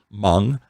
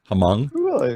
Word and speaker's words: Hmong: to the hmong people i was going to say it's spelled but it's h-m-o-n-g and there's a large community of them here actually the girl who does editing for us uh her parents are mung hamong and she has talked